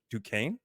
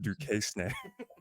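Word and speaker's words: Duquesne: BYU and um always Duane yeah du the S is silent guess I almost said du SN all right so BYU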